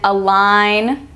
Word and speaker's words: align: in design campaign and align see how the g is silent you don't say design or campaign or align you say design campaign align so when that g